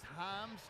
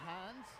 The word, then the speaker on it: Himes: up for Mercer Brendan that is Himes not Heinz so looking at that